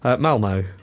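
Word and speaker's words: Malmö: there but we're going to uh Mal Oro Malmo we're going to Malmo we're going to do uh maroke at the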